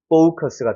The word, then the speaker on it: focus: 근데 이거 이중모음이에요. 그래서 O가 강세가 들어가면 대표 발음일 때 아 사운드도 나지만 O 사운드도 나기 때문에 focus가 되는 거예요. focus. 그러니까 커스가 아니라 약간 크스처럼 넘어가는 거죠.